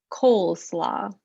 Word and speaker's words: coleslaw: annotate coleslaw um okay because it's the it's the consonant well i guess it's not a consonant it's the vowel consonant e um you know what yeah it's that vowel consonant e so we get the long o cole coleslaw okay okay keep going